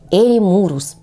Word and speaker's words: эремурус: соцветий этих растений и ударение в слове Ставим на гласную у эремурус запомните сейчас будет название